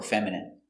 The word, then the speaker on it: feminine: Does the dog look masculine or feminine? Very good. So remember these words. Words ending in ine can have different pronunciations. All of these have the sound in. Imagine, examine, engine, discipline, feminine, and masculine.